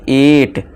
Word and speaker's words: ate: अब जैसे देखिए इसे क्या पढ़ेंगे, एट खाया, अटे नहीं एट यानी कि खाया।